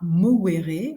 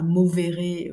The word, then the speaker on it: movere: À la base, il y a marqué famille du latin movere. En latin, on ne prononce pas movere ou mover, mais movere.